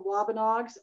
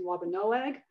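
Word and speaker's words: Wampanoag: Just that the traditional name was pronounced when I was a child, the Wabanogs, and now it's many people are pronouncing Wabanoag.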